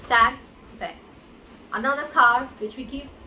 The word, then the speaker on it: TAG Heuer: It's not Tag Heuer, it is Tag Heuer.